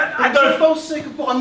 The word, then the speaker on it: Adolphe: Parce que comme tu le sais très bien, le Adolphe de Hitler s'écrit avec un F. Alors que le mien, le Adolphe français, s'écrit P-H-E. Mais c'est pareil. La fait PH, c'est pareil. Adolphe.